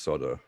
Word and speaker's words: solder: bamboozle me why it is pronounced soda I mean I believe